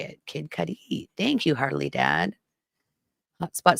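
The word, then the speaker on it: Cudi: Kid Cuddy.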